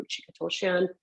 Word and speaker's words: Ruchika Tulshyan: start off a meeting, I'll make sure I'll pronounce my name Ruchika Toshian.